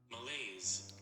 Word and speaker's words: malaise: signs of pness and Malay I'm going to pronounce this word correctly give me a second chat malaise okay I was right malaise body temperature continues